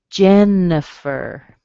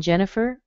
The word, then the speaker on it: Jennifer: The I in Jennifer sounds like a schwa, and the I in Aniston sounds like a schwa.